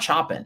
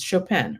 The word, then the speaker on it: Chopin: Chopin, it's not Chopin, it's Chopin, right?